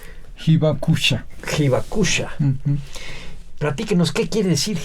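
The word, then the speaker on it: 被爆者: Pronúncielo usted. Hibakusha. Pero ahorita dijo otra vez. ¿Cómo lo dice usted rápido? Hibakusha.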